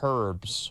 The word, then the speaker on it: herb: Yeah, it's pronounced herbs, right? That's why there's the H at the beginning. Herb.